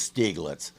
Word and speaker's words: Stieglitz: German pronunciation is Stieglitz, though by now I'm sure he's been around enough unteachable Americans that he's used to hearing it both ways.